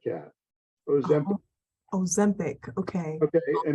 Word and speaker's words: Ozempic: Ozempic. And it's Ozempic. Ozempic. Can you spell that, please?